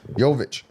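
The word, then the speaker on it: Jokić: But we have uh Nola Nola, how you pronounce his last name? Yovic. Yovic.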